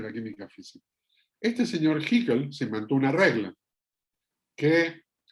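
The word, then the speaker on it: Hückel: Haeckel es la pronunciación correcta, fue un físico que se puso a estudiar en detalle qué pasaba con las distribuciones electrónicas.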